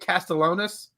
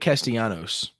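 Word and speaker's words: Castellanos: be a be forewarned nick castellonis is that how you say it it's it's it's nick castiano's casiano's okay i can't here's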